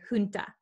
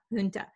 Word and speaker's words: junta: word so the j the j written here does not sound like an english j it sounds like an h so in america we would say junta junta so that's how i'll